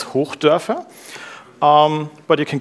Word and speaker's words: Hochdörfer: Um, if you really want to go crazy, you can try to pronounce my last name. It's Herf.